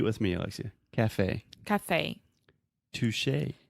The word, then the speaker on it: touché: Touché. Touché.